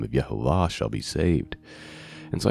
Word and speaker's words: YHVH: And yeah, we may disagree on how it's pronounced and things like that. No one knows for sure. I believe it's Yehovah based on manuscript stuff. But there's other people that have other opinions.